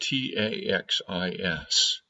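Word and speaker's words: τάξις: The second part comes from a Greek word which is spelled T-A-X-I-S and pronounced taxis.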